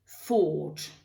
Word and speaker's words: thought: il ne faudrait pas, parce que si on supprime ça, ça devient beaucoup plus simple, déjà. Et puis, le O, là, va venir se prononcer comme un O très profond. O. Donc, ce qui va donner ici buy, bought, et think, thought.